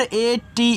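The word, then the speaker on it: ate: है और एक चीज अगर कहीं ए टी ई लिखा है ना इसको एट पढ़ते हैं।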